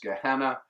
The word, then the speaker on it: Gehinnom: One is Sheol, which in Hebrew is merely the dark underworld of the dead, neither heavenly nor hellacious, and the other is Gehinnom, sometimes pronounced Gehenna, and the meaning of that word has evolved over time.